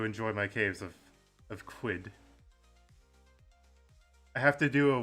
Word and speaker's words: Qud: __ ] caves of I want to say quid because I've always wanted to call the game quid but some people have pronounced it as cud and that just I don't know cuz then I think of cows and like chewing the cud and I'm just like